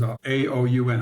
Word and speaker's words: Aoun: The president of Lebanon, his name is Aoun, I think I'm pronouncing it right, Aoun, I think is the right pronunciation, announced that